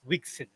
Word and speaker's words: WGSL: it uses is uh wgsl pronounced as wixen so uh this is